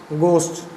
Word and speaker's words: gauche: इसको बोलेंगे क्या, गोस्ट, गो प्लस SH। अगर इसकी प्रोनाउंसिएशन करें तो क्या होगा, जो गो बोलते हैं, GO, गो प्लस SH, गोस्ट। ये इसकी प्रोनाउंसिएशन क्या बोलेंगे, गोस्ट।